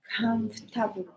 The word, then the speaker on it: comfortable: Don't need to pronounce every letter. Comfortable.